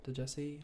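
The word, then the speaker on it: Djesse: It's because it's just spelled with the D. I don't fucking know. Then what's the D there for? The D is silent.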